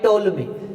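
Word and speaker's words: Ptolemy: दी जाती है बाय टोल्मी। इसमें पी जो है वो साइलेंट रहता है, पी इसमें साइलेंट रहता है बाय टोल्मी।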